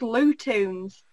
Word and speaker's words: Lewtoons: There's a channel called Lootoons. Lootoons? Spell it for me.